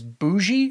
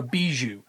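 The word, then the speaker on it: Bijou: don't know who that is, her name is Bougie. I think it's pronounced or no, Beiju.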